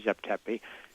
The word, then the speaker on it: Zep Tepi: Egyptian and of course we don't really know exactly how they pronounced it but we say Zep tepi as the sort of